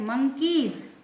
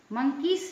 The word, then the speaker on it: monkeys: MONKEYS, मंकीज। मंकीस नहीं कहेंगे, मंकीज कहेंगे। इसमें भी एस के पहले वाई है।